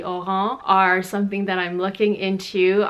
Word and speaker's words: Oran: a mez i think people call them orang sandals but to pronounce it properly it would be oh ho are something that I'm looking